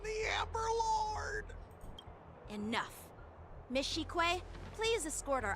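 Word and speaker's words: Qingque: Miss Shikwe, please escort our. That's how you pronounce the name, Shikwe. I'm gonna remember that is Shikwe.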